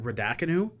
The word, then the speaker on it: Raducanu: I was excited as well to watch Emma, and I cannot pronounce her last name either. Is it Raducanu?